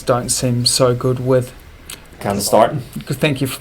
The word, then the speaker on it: candesartan: Candesartan. Thank you for pronouncing that for me, Gerry.